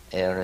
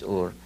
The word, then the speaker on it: Ur: I ask myself also, if Abraham, according to the Bible, came from Sumer, came from a city called Ur, or Er as many here pronounce it, but the true pronunciation is Ur.